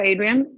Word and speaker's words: Ahdrian: is absolutely instagram and it's adrian but my last name is spelled a hd confusing i will make